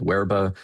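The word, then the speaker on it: Verba: Um, we developed a language learning card game called Werba, uh, spelled with a V because we pronounce it like a Latinist.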